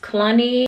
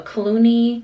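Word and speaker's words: Cluny: I don't know if I'm pronouncing this right, but I think it's pronounced Clunny, a Clooney, BB, Epi Leather Noir bag.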